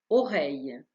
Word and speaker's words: oreille: حرفي EI تعطي صوت A كما في oreille.